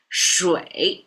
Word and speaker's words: 水: Okay, let me pronounce it if you haven't remembered the pronunciation yet. 水, if that helps.